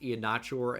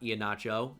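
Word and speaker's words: Iheanachor: people of Nigeria and it's pronounced chore like it rhymes with door.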